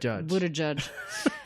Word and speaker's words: Buttigieg: Mais ça se dit Bouddha comme un Bouddha et juge comme judge. Buttigieg.